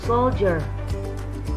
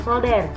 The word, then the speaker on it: soldier: Lalu ada soldier, soldier, bukan solder ya, kade, beda artinya ya, soldier.